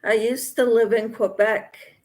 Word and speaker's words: Quebec: used to live in Quebec Quebec they don't pronounce the Q they pronounce it like a k kec good Lydia says